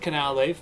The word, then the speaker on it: Canalave: I've gotten to Canalave, which I have just learned is called Canalave because it has a canal.